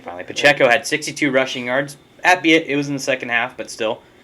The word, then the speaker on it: Pacheco: So, like, Isaiah Pacheco, I found out how to pronounce his name finally. Pacheco had 62 rushing yards.